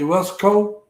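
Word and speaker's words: Weslaco: I want to say Westco. Yeah. Trying to live, Westlaco. huh? Westlaco.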